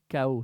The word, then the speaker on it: chaos: La richesse sans fois bien sûr euh rentre accruption et chaos. C'est ça on prononce en français. Ouais. KO.